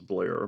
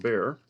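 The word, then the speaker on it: Bair: Smithson Doug BLT bear I thought it was Blair but looks like I've mispronounced his name all along for many years but it's Doug Baer uh Dion James Pete O'Brien Mike Moore uh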